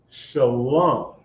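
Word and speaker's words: שלום: A Shah, a La, and a Ma is Shalom.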